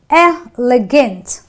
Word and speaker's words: elegant: short concise elegant so the E gets you know you pronounce it very quickly so it is a